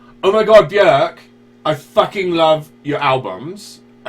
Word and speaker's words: Björk: She was asked about her name, and she said it rhymes with jerk. So, her name is Björk.